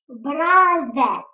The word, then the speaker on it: brother: Brother. Brother. На конце буковка R не читается. Подчеркните ее. И выделите, как я, полукругом язычок.